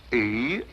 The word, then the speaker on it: Eros: A slight confusion on the lady's part. Probably the influence of Cockney stagehands. She added an H where there shouldn't have been one.